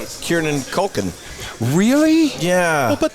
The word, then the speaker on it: Kieran: No, I can tell you, I will say Kieran Culkin. Really? Yeah. Well, but that was your fault. It was, no, I was a contributing factor, but it was not my fault. Kieran. Not Kiernan.